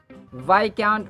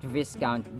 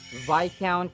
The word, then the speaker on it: viscount: Mesh himself in everyone else's agenda in Mesh Vic count Vic not viscount this word is a British origin That's why it's pronounced That Way and weird right yada yada Vic count Vic count Do you know what is a